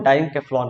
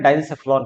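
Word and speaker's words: diencephalon: ठीक है, इस पूरे भाग को, है ना, इस पूरे को हम डाइनकेफ्लॉन कहते हैं, डाइनसेफ्लॉन कहते हैं, जो भी आप कह लो, है ना, जो प्रोनाउंसिएशन जो आपको यूज करना है कर सकते हो।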